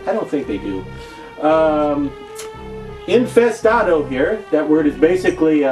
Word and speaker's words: Infestado: oh not not pronounced infested Oh to rhyme with tornado or tomato although if you say tomahto nobody really says tomahto do they I don't think they do infest Otto hear that word is